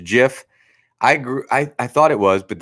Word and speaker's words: GIF: It's pronounced Jif.